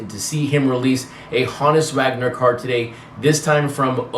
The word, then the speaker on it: Honus Wagner: and that's why you're like, he's saying his name wrong. I really believe Olbermann here says the name correctly, which is Honus Wagner.